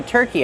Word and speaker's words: turkey: Turkey, use the sound like burger. Turkey. Plus a long E sound like green beans.